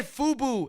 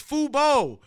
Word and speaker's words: Fubo: You said Fubu. It's Fubo.